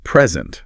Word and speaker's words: present: It says that verbs tend to stress the second syllable and nouns and adjectives tend to stress the first.